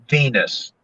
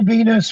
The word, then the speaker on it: Venis: on the phone okay the character's name is val venus the last name is spelled v-e-n-i-s and i remember kind of going hmm okay and he goes now val venus was a former film